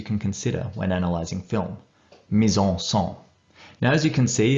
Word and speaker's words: mise en scène: I believe the correct pronunciation is mise en scène.